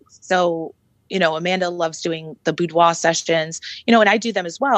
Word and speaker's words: boudoir: By the way, I have to compliment you on using the French pronunciation boudoir versus what we normally say boudoir, which is, it reminds me.